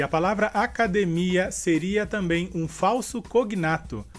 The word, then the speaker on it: academia: E em português seria academia. E a diferença seria que na palavra academia, a sílaba mais forte seria de. E em português, a sílaba mais forte seria mi.